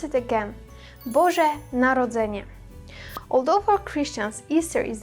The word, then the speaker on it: Boże Narodzenie: Let's pronounce it again. Boże Narodzenie.